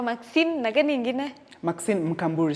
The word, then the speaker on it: Mkamburi: Maxine Mkamburi, say it right, Mkamburi. Mkamburi.